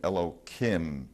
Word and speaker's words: Elohim: the first sentence, Elohim, it's pronounced with an H, but I'll say it with a K so as not to use the name. That ends in the Hebrew ending Yud Mem, Im, Elohim, Im, Yam.